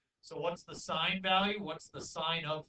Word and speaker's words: sine: So it's actually spelled S-I-N-E. Please don't say sin. We're not talking about sin. Okay, we're talking about the sine function.